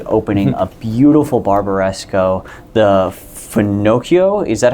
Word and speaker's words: Fenocchio: a Christmas tree, opening a beautiful Barbaresco, the Fennochio. Is that how you pronounce it? Renato Fenocchio, yeah.